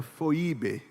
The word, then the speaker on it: Febe: ter o nome de Febe significa Radiante sabia significa Radiante a pronúncia original era foibe Depois virou Febe Febe fo significa Radiante recomendo-vos